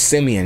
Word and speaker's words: Simeon: Hey, but my name is Simeon. You know what I'm saying? But some reason, people pronounce it Simon. Do you not see the E? There's an E there. Simeon. Simeon. French.